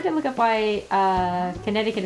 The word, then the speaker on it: Connecticut: look up why uh Connecticut is spelled that way even though it doesn't make sense have a silent c in there yeah hm